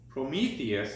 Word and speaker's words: Prometheus: You will need the one that says week 4, and it's Prometheus is how you pronounce that.